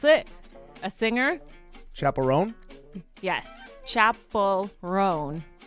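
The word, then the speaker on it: Chappell: Chapel-Roan. Chapel-Roan. Although I have heard it Rowan. Chapel. She says Rowan, though. She says Rowan? Rowan. Yes. Rowan. Yeah, Chapel-Roan. Okay. I still have trouble with that one.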